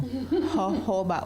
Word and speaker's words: jojoba: Jojoba oil. It's a Spanish oil, so you don't pronounce the J.